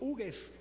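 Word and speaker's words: Hugues: francés llamado Víctor ig se escribe h u g hu s Víctor uges en castellano lo pronunciamos no me vaya a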